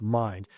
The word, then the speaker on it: Mynd: And then when we started checking into the corporate property management company, which is Mind, which is spelled MYND, but pronounced Mind, we started seeing a pattern of complaints, and we went straight to the BBB.